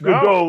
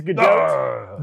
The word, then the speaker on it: Gadot: It is Gal Gadot. Yes. And when I say that, people are like, it's not that. It's Godot, like the play. It is Gadot.